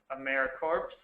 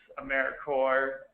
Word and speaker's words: AmeriCorps: tradition to Simply show that it is not pronounced aeric corpse um it's americor and feel free to correct people as they